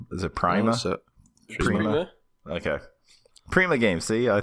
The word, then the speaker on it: Prima: Prima. Okay. Prima Games. See, I thought I fucked up. I'm getting self-conscious about shit. Prima Games, the veteran strategy guide company Prima Games,